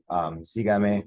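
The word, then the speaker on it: sígame: But this is sigame. We got to put the accent mark on it because it is our it breaks the rule of what we expect the stress syllable to be.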